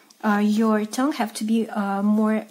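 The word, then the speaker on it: Ё: Next, Yo. Yo. Yo. Like in English your.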